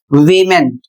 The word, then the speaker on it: vehement: अगला शब्द है वीमेंट, इसकी स्पेलिंग है VEHEMENT। इसे पढ़ा जाता है वीमेंट, जिसका अर्थ होता है जोशीला।